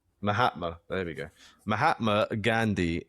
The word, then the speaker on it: Mahatma: Mahatma. Mahatma.